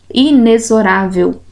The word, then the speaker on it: inexorável: O fonema S, e nessa outra palavrinha, o X, o fonema que ele expressa é o som de Z, inexorável.